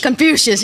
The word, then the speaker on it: Confucius: country to have these Confucius I'm mispronounced and pronounce it for me you know Confucius yeah suspicious it's a you not an eye